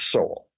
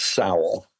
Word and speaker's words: Sowell: of economists is Thomas Sowell. Yeah. And you can tell they've read him rather than heard him or heard his name pronounced, because they'll often say Thomas Sowell. That's how it's spelled.